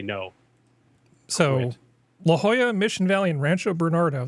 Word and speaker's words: La Jolla: La Jolla. That's how you say it. L-A-J-O-L-L-A. But It's like Spanish. It's Spanish functional. It's in You say J with Espanol. the H.